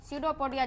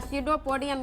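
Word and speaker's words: pseudopodia: कुटपाद सडोपोडिया जिसको बोला जाता है। सडोपोडिया या सडोपोडियम भी बोला जाता है या सीडोप सिडियोपोट बोला जाता है जिसमें पी साइलेंट रहता है।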